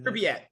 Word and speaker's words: Pripyat: In Pripyat, I think is the name, how you pronounce the city. Pripyat.